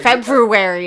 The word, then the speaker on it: February: But February is not how you say it. There's no such thing as a silent R. Is there? Probably. Yeah, in February.